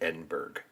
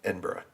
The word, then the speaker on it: Edinburgh: We pronounce it Berg. But Borough. So, Edinburgh.